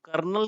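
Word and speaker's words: colonel: है ठीक है नेक्स्ट है कॉलिन हॉल तक कर्नल की स्पेलिंग होती बहुत जगह पूछी जाती है बहुत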